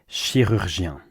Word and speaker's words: chirurgien: At the end of my last video, someone asked me to break down the pronunciation of this word, chirurgien, which means surgeon, a surgeon.